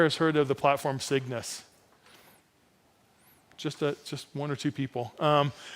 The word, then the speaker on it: CYGNVS: It's called Cygnus. It's spelled really weird. It's like CYGNVS.